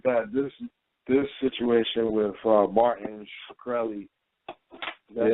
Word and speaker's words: Shkreli: This situation with Martin Shkreli, that's how you pronounce it.